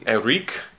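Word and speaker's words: Erik: He was Eric, the Prince of Air at one point. And his family formerly knew him as Eric Weiss. I think it's pronounced Eric. I mean, it's a Hungarian.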